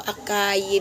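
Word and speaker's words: açaí: Si acai berry, halos ano po pero ang talagang pronounce ito, acai berry.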